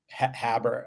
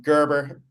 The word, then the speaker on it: Gerber: Habber. Um Gerber is how is how we pronounce it, how I pronounce it.